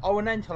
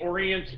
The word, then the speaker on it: Orient: to try that word again M on the orental express so okay Jason first off no I'm